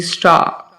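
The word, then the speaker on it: star: अब ये first word है स्टार। र कहां पे है? एंड पे है। और जब एंड पे है तो उसे प्रोनाउंस करने की जरूरत नहीं होती। स्टार।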